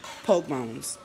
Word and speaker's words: pork bones: Pork bones is actual words, but in Texas, it's pronounced poke bones.